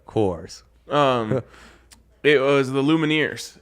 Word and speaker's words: Coors: it again of course rhymes with doors right course um it was The